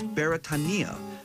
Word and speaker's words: Beretania: a hawaiian word thus the correct pronunciation of beretania is beretania which translates as britain